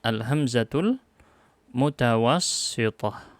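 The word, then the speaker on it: الهمزة المتوسطة: Bacanya Al-Hamzatul Mutawassithah.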